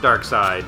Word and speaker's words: Darkseid: Oh, it's still pronounced Dark Side, but it's Seed. S-E-I-D.